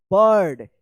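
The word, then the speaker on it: bird: आई के बाद अगर आर रहता है किसी भी वर्ड्स में तो आई का क्या उच्चारण होगा? हां, सही बोला आपने। आई का अ उच्चारण होगा। क्या पढ़ेंगे इसको? बर्ड। इसको क्या पढ़ेंगे?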